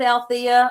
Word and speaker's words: Alethea: And Alethea is spelled funny. It's ALETHEA. That silent E is the only thing quiet about me, because as you can tell, I do like to talk a lot.